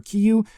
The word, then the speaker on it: Kiryu: Soul of Chogokin figure like I did for Kiyu. Yes, that is how it's pronounced. I do understand. We're going to go with Kiryu anyway.